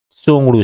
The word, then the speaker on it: Tshogdu: तो भूटान की संसद का नाम है सोंगडू। भूटान के संसद का क्या नाम है? सोंगडू, TSHOGDU, सोंगडू से प्रोनाउंसिएशन करेंगे।